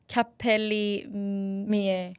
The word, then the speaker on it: Capelli Mie: Okay, so your hair extension business, let me see if I can pronounce that correctly. It's Capelli Mie.